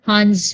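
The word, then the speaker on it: Hund: so we also have what we call our hans rule so that's what we did li and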